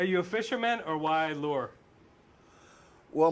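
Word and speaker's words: Luhr: Are you a fisherman or why lure? Well, my real name is pronounced Lure, but it's spelled L-U-H-R.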